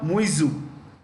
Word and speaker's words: Muizzu: His name is Mohammad Muizzu, MUIZZU. MUIZZU. The Americans say ZZU, we say ZZ.